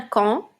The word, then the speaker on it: quand: aujourd'hui nous allons rajouter quand regardez bien quand ça s'écrit avec le en de maman a n et un D muet on ne le prononce pas quand et ça veut